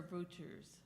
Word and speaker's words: Wouters: Is it Wouters or Wouters? With a V, but it's spelled with a W.